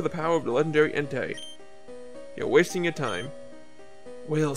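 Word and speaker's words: Entei: I know it's pronounced Entai.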